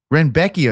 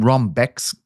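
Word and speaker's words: Rębecki: And I just texted a lad who speaks Polish today, and I said, please tell me how to say his name. And he said it was Renbecki.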